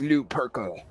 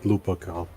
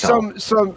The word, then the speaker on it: Lupercal: The chaos introduction for Battlefleet Gothic 2, the War Master Horus Lou Perkle.